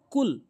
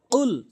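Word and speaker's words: قُلْ: আমাদের যে ভুল, প্রথম ভুল আমরা বলি কুল। সম্পূর্ণ ভুল এবং ভুল অর্থ দ্বারাই আমাদের বলতে হবে উল। এটি হচ্ছে সঠিক উচ্চারণ। কফটি জিব্বার গোড়া থেকে উচ্চারণ করতে হবে, উল বলতে হবে।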